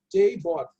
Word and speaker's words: JBOD: Esse é o JBOD, né, JBOD. Essa é a pronúncia mais correta aí.